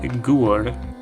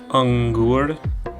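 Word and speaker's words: अंगुर: So it's not just gur, it's angur.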